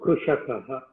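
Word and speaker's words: कृषकः: Kru, Krushakaha. Okay. So I have to pronounce my name as Mama Anukruta.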